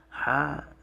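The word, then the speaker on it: ح: is the ha ha ha h but it's uh the ha comes from more near the chest in the throat so if you divide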